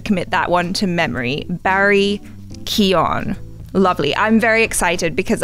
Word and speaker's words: Barry Keoghan: to say his name it doesn't sound anything like how it's spelt but that's the cool thing about irish names i think so i'm gonna have to commit that one to memory barry keon lovely i'm very excited